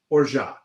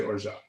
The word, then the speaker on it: orgeat: It's actually spelled like orgeat or orgeat, but the French say orgeat. They say orgeat. I say orgeat. Now you will say orgeat.